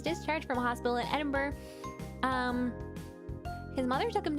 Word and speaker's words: Edinburgh: that i didn't know why i said that edinburgh okay so the pathophysiology the underlying neurophysiology okay